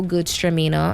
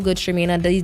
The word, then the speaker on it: Gewürztraminer: Yeah, so we have pineapple Chardonnay, we have mango Gewürztraminer. I know a lot of people don't know how to pronounce the G one, it's German. So yeah, pineapple Chardonnay, mango Gewürztraminer.